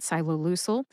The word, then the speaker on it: ciloleucel: In the show notes, you will find the written pronunciations for Yescarta and axicabtagene SYE-loe-LOO-sel, links to my sources, links to the other